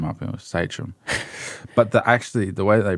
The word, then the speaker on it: Sachém: from, found out that it's actually pronounced Sachém.